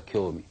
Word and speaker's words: 興味: いう面白みとか興味引きつけられる場合に興味という書方しますねで